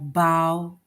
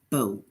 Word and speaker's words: bow: So sometimes the different meanings even sound different, like bow and bow. So as much as it's spelled the same, right? Like BOW, it's spelled the same, but the sound is different. The sound is different as well as the meaning is different.